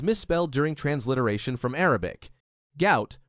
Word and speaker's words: Gout: Gout, pronounced to rhyme with pout, remains his official name.